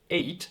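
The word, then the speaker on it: eight: is spelled in English, 8 has this GH inside, which is silent. Then why is it spelled? It is written like that because in older English, it was actually pronounced.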